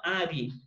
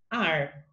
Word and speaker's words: are: e eu tinha dificuldade, eu falava are, né? E é errado. Aí, como que a gente sabe como vai pronunciar essa palavra correta? Aí ela falava para mim, o que que a gente respira? A gente respira ar, né? Aprendi a pronúncia da palavra.